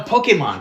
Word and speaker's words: Pokémon: my homework okay pokemon pokemons are the actual the people say pokey and they get a kind of e pokemon yeah that's actually how it's the actual pronunciation pokemon pokemon yeah come on